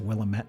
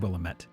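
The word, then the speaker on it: Willamette: Also, it's pronounced Willilamett. Didn't Isn't that what I said? I said Willilamett.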